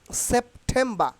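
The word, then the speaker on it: September: you have to mind it very carefully তাইলে সেপ্টেম্বার সেপ্টেম্বার সেপ্টেম্বার সেপ্টেম্বার আর আগে আমরা উচ্চারণ কি করতাম সেপ্টেম্বার সেপ্টেম্বার তাই না তাইলে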